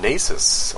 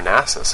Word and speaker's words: Nasus: lot more mananas um nasus or nasis however you want to pronounce it attack range increased by